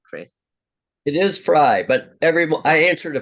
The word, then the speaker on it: Fry: America we welcome back Chris fry am I pronouncing your name right Chris it is fry but every I answered a Fray oh right